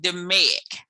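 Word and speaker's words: DMAIC: the the fourth thing is d-m-a-i-c and we pronounce it dominic those are the tools that we use in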